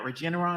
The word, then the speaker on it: Regeneron: up please okay uh what about regeneron am i pronouncing that correctly yes yes you are is it the same